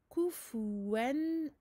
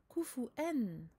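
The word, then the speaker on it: كُفُوًا: Kufu, on avance bien les lèvres pour les 2 dammah et on fait attention à bien prononcer le waw qui en général, pas pour tout le monde évidemment, mais souvent il est remplacé par une hamza.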